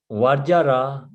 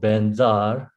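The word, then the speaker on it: Vajra: So then Vajjara, this usually Tibetan pronunciation is called Benzar, Benzar.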